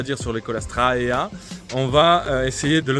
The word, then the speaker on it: Caulastrea: courte alors pour commencer on va pas dire colastrea on va dire colastra AA mais bon c'est vraiment